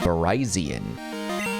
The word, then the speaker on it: Virizion: Virizion. That's, and I was like, that's weird. The spelling and the pronunciation just remind me of Verizon Wireless, and I just thought it was so weird.